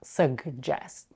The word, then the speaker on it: suggest: I personally don't pronounce the g. It's just easier for me.